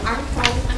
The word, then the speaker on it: Hmong: be more inclusive of the Hmong white dialect that pronounces Hmong with an aspirate H, and the Hmong Ring, Hmong Green dialect that pronounces Hmong with the M sound.